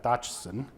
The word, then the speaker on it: Dodgson: So when he would say his name, Dodgson, you get the dodo, right?